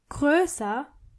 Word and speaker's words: größer: You have to keep in mind that when you use this adjective, you have to change O into O umlaut. So it's groß, but größer and größte.